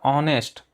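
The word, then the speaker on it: honest: एन ऑनेस्ट मैन, तो यहाँ पर ऑनेस्ट, एच यहाँ पे भी साइलेंट है, ओ से स्टार्ट हो रहा है, तो वो क्या है?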